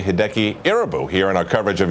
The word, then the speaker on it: Irabu: He said, "He pronounces it IU." So that's why I went with IU.